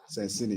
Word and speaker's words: Sensini: Wait, let me follow you, Sensini. Is that how you pronounce it? Sensini. Sensini? Sensini, yeah.